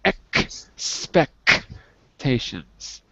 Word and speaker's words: expectations: syllables different good differing expectations differing expectations good you can't get that k sound when you see the x x different expectation with